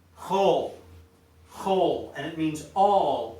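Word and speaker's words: כל: detailed hebrew grammatical rules it's pronounced whole in all cases okay 99 of the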